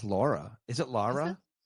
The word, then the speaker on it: Laura: And I don't know why you had to pronounce her name Lara, but what's her name? I think it's Laura.